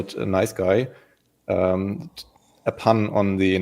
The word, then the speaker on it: NiceGUI: it that explicit that it should be pronounced nice guy. Uh but we are fine with nice as well.